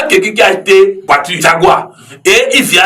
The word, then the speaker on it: Jaguar: qui a été voiture Jaguar. Et il vient à l'église, il dit Aïbaï Jawa. Donc, il y a quelqu'un qui a fait série A, tout ça, qui lui dit non, not Jawa, Jaguar.